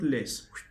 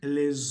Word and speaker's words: le: Then the last one, the last D is le. Le, as if you want to smile. Le. You see? Le. Le. It's not less. It is not less, ladies and gentlemen. It is le.